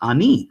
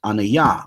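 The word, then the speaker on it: אֲנִי: Those who know Hebrew, standard Hebrew, would say it's pronounced ani, right? And they would say, no, it's pronounced anaya, or the Torah Night cats would say ane or something like that.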